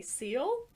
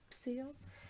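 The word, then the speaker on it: Cele: possession of clara germana when i say seal c-e-l-e seal ah there's no way to know it's seal it's silly sally there's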